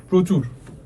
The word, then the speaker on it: প্রচুর: তাহলে দেখো প্রচুর।